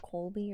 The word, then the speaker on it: Colby: I think you're supposed to say Colby, or you're supposed to pronounce the L.